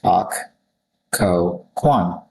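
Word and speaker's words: Occoquan: And for that pronunciation, it's Ak Ko Kwan, like how you literally read it.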